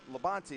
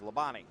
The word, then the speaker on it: Labonte: If you're it's Labonte is how you're supposed to say it. But if you're NASCAR, it's Labonte. Labonte. Or just they try to make everything one less syllable.